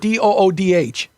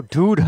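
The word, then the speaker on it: दूध: You'd phonetically do it DOODH. Oh, dude. Dude. It's from the front of the mouth, not dude.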